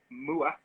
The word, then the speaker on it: Moath: the name of my handle on instagram is muah um illustration it used to be maps but